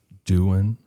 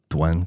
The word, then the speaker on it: douen: talk about are the Dan or Dwen. It's There's multiple ways to say it. Yeah, it's spelled D O U E N. Dwen kind of sounds better to me.